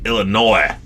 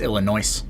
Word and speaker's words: Illinois: off heading off to Illinois I think it's pronounced Illinois illino illin illino illino what do you call